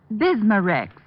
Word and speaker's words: Bismarex: Bismarex.